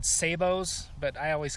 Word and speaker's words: sabot: drive some people crazy, but it's spelled like sabot. And I'm not French, so why wouldn't I call it sabot?